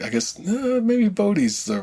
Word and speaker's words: Bode: see the Netflix show, the name is spelled Bode. How in your head did you pronounce that name? Bodhi. Bodhi? Okay, I was the first time I read it was like Bode. Yeah. Because like Ode to Joy or any of the other, like ODE was always just kind of Ode.